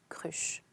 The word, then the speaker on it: kreuzer: Le libraire m'en demanda un florin et 6 kreuzers, on prononce cruche.